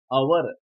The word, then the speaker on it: hour: दोस्तों यहाँ HOUR आवर, उसको हवर नहीं बोलते, आवर बोलते हैं.